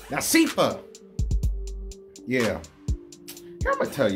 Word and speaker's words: Nashiefah: It's Nashiefah.